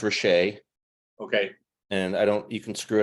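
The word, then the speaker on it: Rasiej: I know it's pronounced Roche, Okay.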